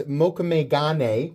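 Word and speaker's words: mokume-gane: Ooh, so that is mokumegane, which if I don't say right, the people who correct me with the correct pronunciation of mokumegane are a lot more aggressive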